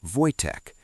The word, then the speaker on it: Wojtek: They name him Wojtek, pronounced Wojtek, a common Slavic name meaning "he who enjoys war" or "smiling warrior".